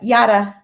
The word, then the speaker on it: Yara: for having me Kevin oh fantastic did I pronounce your name correctly it's a Yara Yara okay but I thought it was cute